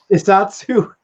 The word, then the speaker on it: Shiatsu: Shiatsu.